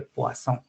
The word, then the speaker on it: Poisson: comenté en la presentación tiene una pronunciación que es francés de Poisson.